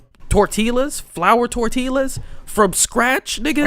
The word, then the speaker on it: tortilla: Have you ate like tortillas, flour tortillas from scratch, nigga. Ain't no way this nigga just said Pronounce tortillas. the L. You pronounced the L, nigga?